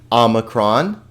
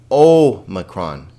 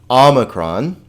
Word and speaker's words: omicron: X sound, okay, xi, omicron. Now, let's be careful here that we don't say omicron, because we'll see in a minute here that omega has the O sound.